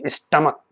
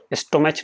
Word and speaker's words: stomach: सब समझते हैं, स्टमक, STOMACH, स्टमक पढ़ेंगे, स्टमक, स्टोमच नहीं पढ़ते हैं, प्रोनाउंसिएशन जो है स्टमक होगा।